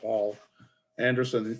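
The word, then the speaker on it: Poul Anderson: word it's failed p-o-u-l but it's pronounced paul anderson he died early 2000's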